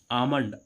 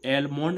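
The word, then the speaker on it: almond: होता है बादाम इसको एलमंड नहीं पढ़ेंगे एलमंड नहीं पढ़ेंगे क्या नहीं पढ़ेंगे एलमंड क्योंकि एम से पहले एल आ रहा है इसलिए एल कैसा हो रहा है साइलेंट हो जाता है इसका उच्चारण नहीं होता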